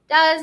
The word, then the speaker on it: does: So does starts with a s. Now that E is kind of silent.